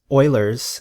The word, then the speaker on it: Euler: approximately equal to 2.718 known as Oilers his name rhymes with boiler's number there are a